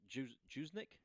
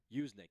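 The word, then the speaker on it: Juszczyk: cup and Kyle jnik Juck I'm saying his name wrong yick thank you I'm saying the Jay you're not supposed to say the Jay yick yuse Che kle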